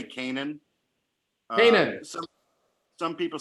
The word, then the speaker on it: Canaan: or pronounced let me heard me am i pronouncing it right we say canaan penis some people say come on you know our feelings aren't hurt however tell